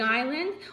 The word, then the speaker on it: island: You can have a big island or you can have a tiny island. The island is the land. Everyone say this word with me. Island. Good. The S is silent.